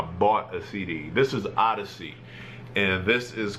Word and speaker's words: Oddisee: to pimpa Butterfly um but Odyssey is crazy dope if you don't know who he is o d d i s e e yeah I had to